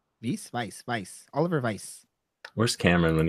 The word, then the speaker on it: Weiss: Weiss. Weiss.